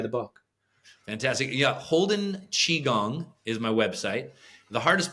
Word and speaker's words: Qigong: Yeah, Holden Chi Gong is my website. The hardest part about Qigong is how to spell it.